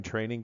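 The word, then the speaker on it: Train-Eng: at our website at train minus sign Eng comm pronounced training this is our CWI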